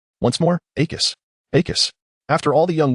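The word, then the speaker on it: Accio: Akus. Note one. Akus. ensure that the final syllable is pronounced clearly and with a sharp emphasis once more. Akis Akus.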